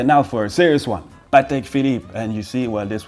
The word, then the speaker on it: Patek Philippe: Okay, now for a serious one, Patek Philippe, and you see, well, this one is easy too.